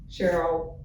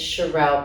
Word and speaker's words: Cherell: Cheryl. Did I pronounce your name? I always get your name wrong for some reason. It is Charerelle.